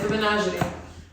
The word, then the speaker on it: The Menagerie: The first thing I need to say is how to pronounce the band, and not to butcher the band name. Shades on as well. Oh, naturally. The Menagerie.